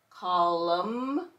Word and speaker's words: column: Then we have MN. N is silent, and we're going to hear the M. Column, autumn, and columns.